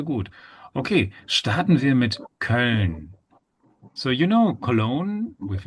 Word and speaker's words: Köln: So you can pronounce E. E. You need to stretch this E. E. Con, E. Okay. So once you pronounce E, E, you relax your lips.